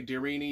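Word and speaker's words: Deryni: of the darini and I don't know if I'm pronouncing it right d r y n i darini I say darini you can say whatever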